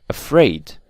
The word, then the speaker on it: afraid: but again we have exceptions like the word afraid you can clearly see that these stress is on the second syllable so afraid or polite